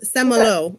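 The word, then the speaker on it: Saint-Malo: on the island of Saint Malo Ron don't correct my pronunciation actually I think a pretty close semolo I believe is how you would say it her story of getting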